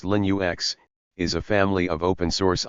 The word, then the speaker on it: Linux: Linux, pronounced Linux, is a family of open-source operating systems, which means they can be modified and distributed by anyone around the world.